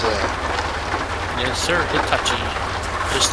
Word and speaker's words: Hitachi: Welcome to this is what Hitachi. Is that how you pronounce that? Yes, sir, Hitachi.